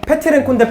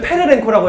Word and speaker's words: Petrenko: 페트렌코인데 페르렌코라고 했어요.